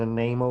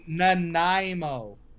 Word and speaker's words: Nanaimo: it's a chocolatey coconut i'm not gonna explain it until you say it correctly i said the name oh but that's literally what you said the whole time and every time i corrected you and i said that it was nanaimo all right so tell